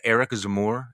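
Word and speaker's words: Éric Zemmour: Is it Eric Zemmour? Am I pronouncing that correctly?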